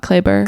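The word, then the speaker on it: Kleber: I I'm not going to pronounce that right. Clay. I remember them saying his first name a lot. Clayber.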